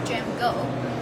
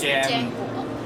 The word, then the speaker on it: JMGO: 的意思 So actually we call them with the jam go because it's just like the similar pronunciation like we pronounce our brand name in Chinese、mm. in Chinese name we call it ourselves is jam go jam go yeah go means 就是我们就很快快速增长快速飞那种 Understand.